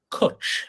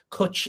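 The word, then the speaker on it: cwtch: place in Wales called let me pronounce this properly kuch it's called Coach dog Adventure Park Kutch is a Welsh word that means cuddle believe it or not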